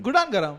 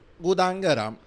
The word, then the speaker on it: Gudang Garam: Yeah, One gudang garam masala and is lesser garam. when I started smoking, garam meant gudang garam. Gudan garam.